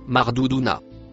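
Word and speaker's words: مردودون: Le mot en bleu se prononce Mardouuna.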